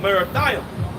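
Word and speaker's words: מרתים: through US verse 21 go up against the land of marathia that's that's how you pronounce it in the Hebrew well all right which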